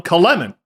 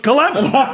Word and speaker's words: Kulemin: But there was one holdout, and it was Bob Cole, who kept calling him Kalemin, which is closer to the Russian pronunciation.